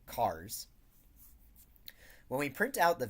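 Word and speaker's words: chars: the output to cars, or chairs, depending on I guess how you choose to pronounce this. It's short for characters, so I'll say cars.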